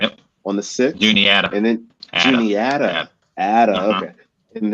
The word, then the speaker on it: Juniata: You guys have the Juniata. I think I'm saying that right. Yep. On the 6th. Juniata.